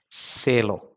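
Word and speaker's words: se lo: for the form so instead of saying lilo it is cello try uh saying those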